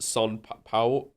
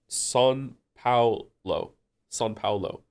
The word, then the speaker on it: São Paulo: It's pronounced São Paulo. São Paulo.